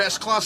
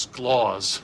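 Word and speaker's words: S. Claus: You're S-Clause 7-1. For the last time, it's pronounced Sclaws. That's my middle name.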